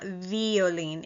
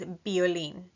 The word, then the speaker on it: violín: The letter V in Spanish is pronounced like a B. B. For example, violín. It's not violín, it's violín.